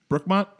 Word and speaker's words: Brookmont: Brookmont?